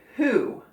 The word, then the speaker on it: who: just m-o-v-e move and who the o also sounds like ooh but it's not it's just an o and the w is silent oh another silent letter